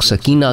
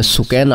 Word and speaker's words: سکینہ: کا نام سکینہ ہے, بعض لوگ سکینہ کہتے ہیں لیکن صحیح تلفظ عربی میں سکینہ آتا ہے, وہ ہے.